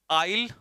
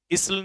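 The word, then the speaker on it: aisle: पहला है आइल और आइल। देखो, इसे इसल नहीं पढ़ेंगे, आइल कहते हैं इसे, एस साइलेंट रहता है, तो आइल पढ़ेंगे।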